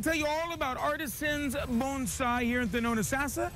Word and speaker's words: bonsai: the art of bonsai did i say it right bonsai yeah and look at this